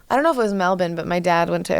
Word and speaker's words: Melbourne: because I've been there I have to now say it say it like they say it Melbourne I can walk yeah